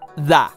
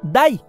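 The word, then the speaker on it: 大: muñequito abriendo los brazos en chino se pronuncia da y en japonés by y significa grande otros son más complejos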